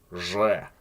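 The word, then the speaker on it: Ж: And then we have Zh, which is certainly an interesting looking character, I guess. And this pronunciation is pretty much the same as in the English words treasure or measure. It's that zh sound.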